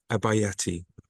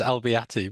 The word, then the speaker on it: Albeyatti: Abayati. I know I've said your name wrong. And I've been No, don't worry, it's Albeyatti, but it's very oh, close.